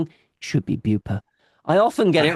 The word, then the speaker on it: Beaupre: It should be Beauper.